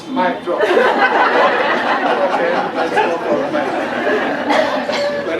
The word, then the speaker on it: Mitrofanoff: In Russian, we pronounce it Mitrofanoff. In French, we used to say Mitrofanoff. But I now resigned to accept the English version of Mitrofanoff. Even on the site, it's advised to pronounce Mitrofanoff.